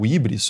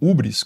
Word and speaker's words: hybris: A hybris, né, o hybris, ou ubris, como queira pronunciar, é a desmedida, né, é ultrapassar os limites apropriados da sua própria condição.